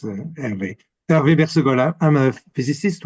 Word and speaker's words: Hervé: Hopefully I'm going to mispronounce this. I apologize. Hervé? Hervé? Yes, thank you. It's Hervé.